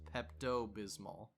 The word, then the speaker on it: Pepto Bismol: talking about Pepto Bismol heard it it's pronounced Pepto Bismol which is just a lot easier to say white out again very